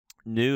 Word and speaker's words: nu: but it's not okay so nu is pronounced like the English in and you have to